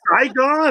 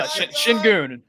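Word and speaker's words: Şengün: No, I thought his name was Saigon. I I read I'll read Shun. No, Shinun. He's Turkish. That's how you pronounce it.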